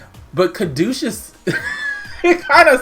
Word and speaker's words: caduceus: loud this week and most people have been saying kedusha staff so I'm gonna go with that cuz I I don't know in my head I never pronounced it that way I always thought it was like Kartika stuff but caduceus it kind